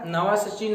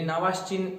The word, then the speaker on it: Navashin: इसकी डिस्कवरी किया था नवा सचिन नाम का एक साइंटिस्ट थे. अपनी भाषा में याद रखो नवा सचिन, एक्चुअली नवाश्चिन उसका नाम है, प्रोनाउंसिएशन उसका आप देखें तो.